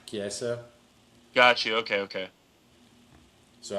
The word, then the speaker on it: Chiesa: Michael is it Cheze? How the hell do you Chiesa. say his name? Chiesa.